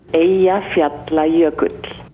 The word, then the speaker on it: Eyjafjallajökull: I don't know how it's spelled, but listen to how it sounds. Eyjafjallajökull.